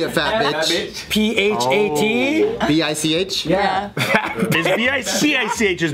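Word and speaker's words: Bich: Yeah, that's a first name, Bic. But yeah, it's like pronounced Bic.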